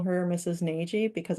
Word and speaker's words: Nagy: Nagy because I've heard that name said that way in North America, Okay. but in the audiobook, it will be heard differently. We decided to go with something closer to the Hungarian pronunciation because we figured that's how she would have introduced herself. But I just say Nagy in my head.